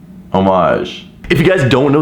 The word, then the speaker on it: homage: o mais yeah so there's no H French okay homage if you guys don't